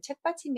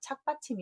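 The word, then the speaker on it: 착받침: 시험 갈 차기 라는 흔히 여러분은 책 빡침이 라고 하실텐데 얘는 책받침 이 아니라 차기 라는 발음의 받침 역할에서 착 받침 입니다 그런데 옆에서 듣기에 책받침 이 책받침 이렇게 그래그래 책받침 이라고 하는 거구요 그것을 외우는 것보다 더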